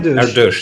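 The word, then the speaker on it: Erdős: How do you pronounce Erdos? Erdos, yeah?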